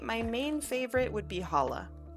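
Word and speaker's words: challah: Um, I think my my main favorite would be hala. Uh, it's spelled C H A L L A H.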